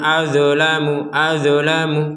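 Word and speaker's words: أظلم: Tapi huruf dot ini nggak boleh dipantulkan.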